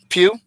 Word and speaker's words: Pugh: Sorry if I'm pronouncing her name wrong. Pugh.